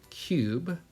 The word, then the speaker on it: cube: Our next word is going to be cube. Cube. 3 sounds. Okay. Silent sound at the end. Cube. So we have K, C, U, easy enough. B, Good. But if I forget to put something, this is going to say cub.